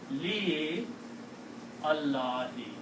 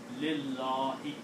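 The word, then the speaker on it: لله: You can pronounce, if you are a slow reader, you can say li Allahi. You can pronounce, there's nothing wrong in that. But according to the rule of tajweed, you can drop. You have the option of dropping alif here and pronounce lillahi.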